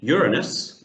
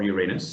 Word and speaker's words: Uranus: Is it A, Jupiter, B, Saturn, C, Uranus, or Uranus, depending on how you want to pronounce it, or D, Gallifrey?